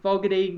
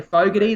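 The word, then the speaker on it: Fogarty: got out in front with foggity what a fine he's been i should say fogerty they've said is the correct pronunciation and and taylor there's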